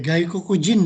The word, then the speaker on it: gaikokujin: Oke, gaikokujin itu bacanya ya. Gaikokujin.